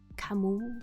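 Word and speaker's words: Camus: Oh, I'm pretty sure it's pronounced Camu, but I'm also stupid.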